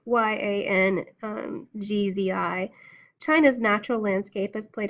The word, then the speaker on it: Yangtze: Bounded by mountain ranges and bisected by two great rivers, the Yellow and the Yangtze. I know I'm saying it wrong. Yangzi.